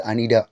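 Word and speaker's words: Anita: நாம் ஒரு குறிப்பிட்ட பேரை, உதாரணத்துக்கு அனிதா, இங்கிலீஷில் அனிதா அப்படின்னு சொல்கிறோம். பட் யூஎஸில் அந்த பேரை வந்து அனிடா அப்படின்னு தான் ப்ரொனவுன்ஸ் பண்ணுறாங்க.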